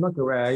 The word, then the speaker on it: Le Carré: I like those movies a good bit, but I know you like John Le Carré, how you pronounce his name, Kari? John Le Carré, yes, although he had his own moral ambivalence